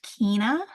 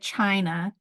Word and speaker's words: China: remedy is sometimes pronounced Kina but you'll find that many homeopaths pronounce it China just like the country of China That's how I'll be